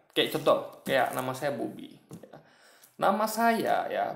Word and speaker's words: Bobby: Tapi pelafalannya berbeda kan. Nah, bahkan cara orang nyebut pun beda. Mungkin orang beli kan juga Bobby gitu. Bobby gitu kan. Nah, kalau orang biasa kan Bobby gitu. Jadi nadanya beda, cara nyebutnya, atau misalnya yang lain lah.